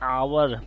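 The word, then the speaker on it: hour: आवर अब य पर आवर पढ़ेंगे इसको क्योंकि एच जो है ए जो है साइलेंट होता है और ओ की आवाज आ रही है और हमारा क्या है वावेल है इसलिए दिस इ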